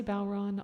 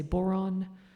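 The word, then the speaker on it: bodhrán: I say Bowron. A lot of people say Boron. I think I've heard at least a couple other pronunciations.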